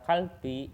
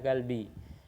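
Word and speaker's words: 갈비: itu kan nggak merubah biopnya menjadi sang biop, nggak dibaca kalbi tapi dibacanya galbi.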